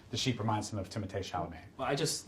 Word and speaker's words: Timothée Chalamet: Not Timothy Chalamet, Timothée Chalamet. It's pronounced Timothée.